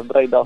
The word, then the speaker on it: Braidot: La seconda, Braidot. Braidot, ok, perché qualcuno lo pronuncia con l'accento.